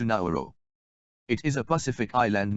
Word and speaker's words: Nauru: Nauru, the world's 3rd smallest country, has updated its official name spelling and pronunciation to Nauru.